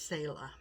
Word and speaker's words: Selah: Yes, it's Selah. That's how you pronounce it.